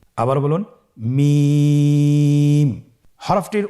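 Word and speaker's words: ميم: মিম হরফটি উচ্চারণের ক্ষেত্রে অবশ্যই বারিক হবে, পাতলা হবে এবং তিন আলিফ টেনে উচ্চারণ করতে হবে। আমার সাথে আরেকবার চেষ্টা করুন। মিম আবার বলুন মিম হরফটির উচ্চারণ স্থান দুই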